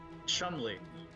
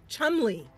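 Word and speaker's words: Cholmondeley: we're gonna ask about now how do you pronounce this Chumlee Chumlee yeah and so just like a little like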